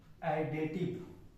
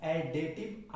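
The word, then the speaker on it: additive: तो आइए तीसरा जो प्रॉपर्टी है वो क्या कहता है, इसको जिसको हम लोग बोलते हैं आइडेटिव आइडेटिव आइडेटिव आइडेंटिटी बोलते हैं। आइडेटिव आइडेंटिटी, इसका प्रोनाउंसिएशन क्या होगा? एडेटिव identity.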